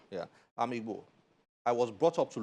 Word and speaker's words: Igbo: I am Igbo. Is that the right pronunciation? Yeah. Yeah. I'm Igbo.